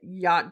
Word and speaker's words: yacht: not a hatchet yeah the fact that yacht doesn't rhyme with Hatchet ridiculous yeah or ratchet